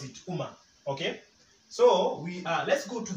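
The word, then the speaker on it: ũka: It's pronounced as O.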